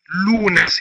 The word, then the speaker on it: lunes: اليوم الاول عندهم في الاسبوع هو الاثنين اذا لونس اذا سنبدا بلونس باول الاسبوع ويبتدئ الاسبوع في